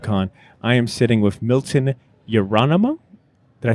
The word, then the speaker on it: Miltos Yerolemou: I am sitting with Milton Yerolemou.